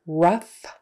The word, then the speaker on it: rough: So remember, rough, tough, tougher, roughage, enough. Those are all pronounced uff.